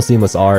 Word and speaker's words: SeamlessR: I know the whole SeamlessR and the R is silent thing, but like, why Seamless?